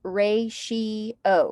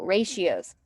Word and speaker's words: ratios: really look like it's pronounced but it is pronounced ray she oh ratios so first let's talk about what a ratio